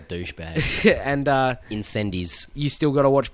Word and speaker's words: Incendies: and so we still got to see uh incendies I mean I know it's pronounced on sunde but it makes me sound like a wanker when I say that Mak sound like a douchebag and uh incendies you still got to watch poly technique which